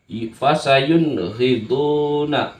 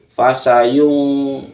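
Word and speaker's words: فَسَيُنْغِضُونَ: karena bertemu dengan huruf fasayuniduna fasayun Jangan dibaca fasayung salah yang benar adalah fasayuniduna fasayuniduna hukum bacaannya Jelas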